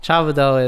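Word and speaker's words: 差不多: Chabudo is, am I pronouncing it right?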